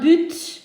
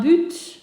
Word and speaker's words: but: Un but is a goal. Okay, so un but, a goal. Rarely do we pronounce the last letter in French words, but we can do that here. So un but, a goal.